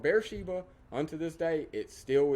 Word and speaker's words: Beersheba: it will be called Beersheba. Unto this day, it still is. There is a large modern city built just outside of this picture. They call it Beer Shiva. They pronounce it with a V.